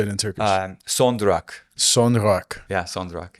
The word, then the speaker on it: son durak: Son durak.